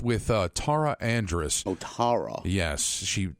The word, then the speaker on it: Tara: uh Tara Andress oh Tara yes she it's pronounced in the British fashion and um she is